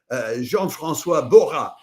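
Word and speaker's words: Jean-François Borras: First of them is uh Jean Franis Bha. That's how the French would pronounce that name and he is French.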